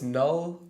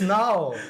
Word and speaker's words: null: cuz like bu new b u l l and n l l that's they're much alike do people say red bo bo is that what people red bu like new yeah yeah oh wow no it's null yeah it's null everybody null pointer exception you